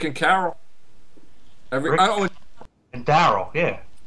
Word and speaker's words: Daryl: I always and Daryl. Yeah. Well, I said Daryl, but it rhymes with Carol.